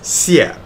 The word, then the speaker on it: Xie: Ryan, the way you pronounce Peggy's last name is Xie. It's a Chinese word for thank you.